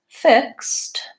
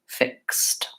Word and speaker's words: fixed: after the actual sounds in the word so that would be the F sound while it as an it and is and then the K in this word says K s I mean the X says K s fix and in this case the IDI that's past tense actually says T fixed so no wonder you